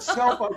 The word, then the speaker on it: SELPA: We say IT LIKE LIKE THE WORD SELPA.